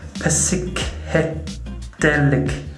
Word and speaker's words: Psychedelic: So if I say it phonetically, it's psychedelic sunset.